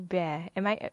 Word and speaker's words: Behr: And his name is Professor Harry Behr. Did I pronounce it correctly?